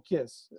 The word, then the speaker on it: Kees: of times so um i answer to both case the correct pronunciation or kiss but yeah thanks for